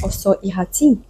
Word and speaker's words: Ossau-Iraty: Let's move on to our next cheese, Ossau-Iraty, or if we were to say it in French, Ossau-Iraty. So the stress falls on the last syllable.